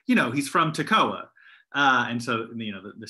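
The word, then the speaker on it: Tekoa: a town called toccoa spelled differently but pronounced the same and so when i would teach about amos in my old testament classes i would say you know he's from tacoa and so you know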